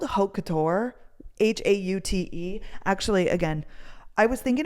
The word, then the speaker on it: haute: Haute?